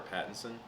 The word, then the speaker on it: Pattinson: Is it Patterson or Pattinson? Not sure how you say it. Pattinson.